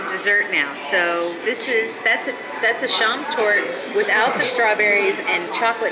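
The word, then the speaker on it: Schaumtorte: Schrammtorte, which is a meringue with ice cream and a sauce.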